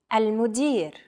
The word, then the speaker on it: المدير: المدير. المدير. Chances are your pronunciation was pretty spot on.